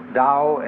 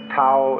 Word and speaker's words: Tao: called the dao tao pronounced dao in the mandarin dialect tao in the shanghai dialect toe in the cantonese dialect take your choice dao